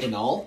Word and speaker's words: banal: It's like banal? You're so obviously like B-N-L? Like you say something, yeah. It's like anal and then you add a B at the front. It's literally how it's spelled.